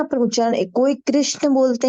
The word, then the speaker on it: कृष्ण: बोलते हैं कृष्ण और महाराष्ट्रीयन वो लोग क्र को क्रू बोलते हैं खास करके मराठी जो स्पीकिंग है ना तो वो कृष्ण बोलते